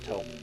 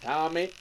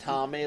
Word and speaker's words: Tomie: I know there's been a couple of Tomy movies. Tomie, sorry. My bad. Yeah, actually, it's pronounced Tommy. Oh, for fuck's fuck! Sake. Actually, it's pronounced Tommy, like the rock opera. Tommy like the Rugrats.